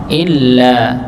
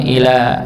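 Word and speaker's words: إلا: kitaba dua harakat tnya Illa Illa di sini di apa dihentakan juga Nggih jadi hamzahnya masuk pada huruf H lam illa dan ada beberapa yang kadang bacanya Ila mim ba'di Il mim ba'di ya karena nanti merubah maknanya kalau illa itu kecuali kalau Ila itu kepada atau sampai bisa begitu Nggih jadi maknanya ber berbeda illa mim ya mim'di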